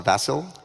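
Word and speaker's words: Vasil: uh this month uh i believe it's pronounced a vassal yeah it's after vassal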